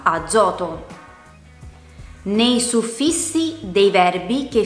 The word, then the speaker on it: azoto: Fra due vocali, come per esempio nella parola azoto.